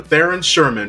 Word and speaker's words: Theron Sherman: Theron Sherman from Site-42. Please welcome Sherman Christensen to the show. Actually, it's pronounced Dr.